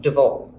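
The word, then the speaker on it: de Waal: That man is Edmund de Vol. It's spelled D-E, capital W-A-A-L, de Vol.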